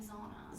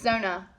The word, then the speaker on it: Zona: So, Katie was right. I was wrong. It's Zona. The Greenbrier Ghost is Zona, and I did lots